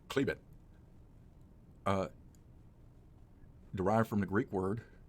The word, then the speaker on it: Chalybeate: above a depth of 8 800 feet the cleebit prospect pronounced clebit derived from the greek word for iron ridge